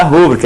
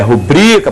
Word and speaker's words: rubrica: Na 5, rubrica, não é rúbrica, é rubrica, paroxítono.